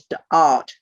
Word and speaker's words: Da'at: This little spotty bit in the middle is known as Da'at, D-A'-ath.